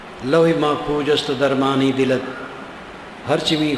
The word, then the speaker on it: लौह: लौह महफूजस्त, लौह लौह लोह, संस्कृत में लौह और अरबी में लौह, दोनों में उच्चारण वही है और अर्थ वही, लोहा।